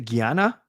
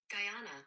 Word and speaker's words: Guyana: Is it Guyana? Guyana.